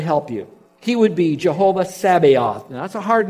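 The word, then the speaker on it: Jehovah Sabaoth: Lord that would help you he would be Jehovah Sabbath that's a hard name to pronounce but let's see if you can do it with me Jehovah Savion say it with me Jehovah Savion now that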